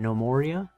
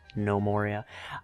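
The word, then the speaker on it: Gnomoria: If you've seen the game No Moria, spelled with a G, so gnomes, No Moria.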